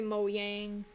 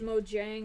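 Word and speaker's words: Mojang: if it is sorry Mo Yang I I know it's probably pronounced Mo Jang I just kind of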